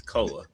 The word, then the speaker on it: Koa: say his name right. It's Koa. Is it Koa? What did I say? Koi Koi, Pete? like he's a fish. Because it looks like koi. It looks more like koi than koa.